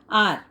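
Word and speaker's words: hour: एच से start हो रहा है वर्ड, लेकिन प्रोनाउंसिएशन उसका कैसा है, साउंड कैसे कर रहा है, आर. To reach the airport. Here H is silent, so the word आर begins with the vowel sound A, आर.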